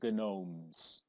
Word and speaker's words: Gnomes: Mischief of the Gnomes but the g is silent because the G moves in silence like in lasagna this turn reduce the